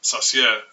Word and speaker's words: Saussure: It's important to remember the pronunciation of his name, Saussure, as Chassia is a French brown sauce with mushrooms.